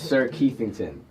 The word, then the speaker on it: SirKeithington: Yes, it's spelled just the way it sounds. SirKeithington. It's like Kensington, but just with Keith.